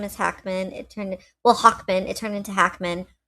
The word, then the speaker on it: Hacmon: It turned well Hawkman. It turned into Hackman. Hackman is fake." because Moses likes to pronounce his last name Hawkman as Hackman, which is a more Americanized version of it.